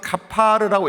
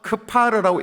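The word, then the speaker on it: כפר: 카파르라는 말은 A를 써서 카파르라고 읽기도 하고 A 빠져서 크파르라고 읽기도 하는데 이게 일반적으로 고장이란 마을이라는 뜻이에요.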